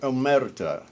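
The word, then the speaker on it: omertà: Well, Larry insists on rolling the R.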